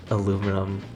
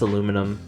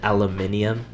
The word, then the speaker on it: aluminum: so funny um and then I just say aluminum like just or like yeah just aluminum yeah um I know some people I know some people pronounce it aluminium no that's that's just like the that's just